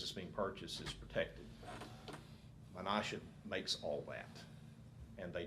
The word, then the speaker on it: Menasha: how to pronounce it I think it's pronounced Menasha m-e-n-a-s-h-a Menasha packaging company it may be pronounced Menasha but I'll find out before we start saying